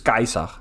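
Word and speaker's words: Caesar: de eerste echte Keizer het woord Keizer komt ook van de Latijns uitgesproken naam van Julius Cesar namelijk Julius kaisar en vanaf moment dat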